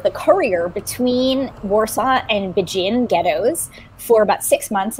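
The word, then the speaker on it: Będzin: very well in yiddish the jewish community called it so if you if you are jewish you have family from there you would have called it benden um but bajin is is it is sort of i believe how it is pronounced now in polish and bajin had been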